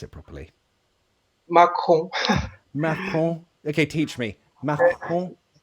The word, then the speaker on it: Macron: I don't know how to pronounce it properly. Macron.